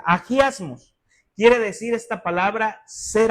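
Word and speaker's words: ἁγιασμός: La palabra santificación viene de una palabra griega que es agiasmos, así se pronuncia, agiasmos.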